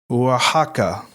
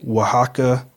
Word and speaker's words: Oaxaca: It's Oaxaca, Mexico. I saw another pronunciation that was Oaxaca, or Oaxaca.